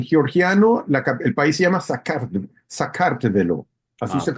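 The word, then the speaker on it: საქართველო: de paso, en georgiano el país se llama Sakartvelo, así Ah, se ok.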